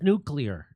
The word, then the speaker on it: nuclear: have a nuclear weapon the word is nuclear yeah what a so people like him on on purpose mispronounce it to sound folksy nuclear it's nuclear guy that changes an airfi